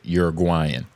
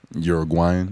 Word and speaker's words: Uruguay: What, it from Uruguay? Uruguay. Uruguay. Uruguay. F-Mac, is that true? That is true. That's the correct pronunciation.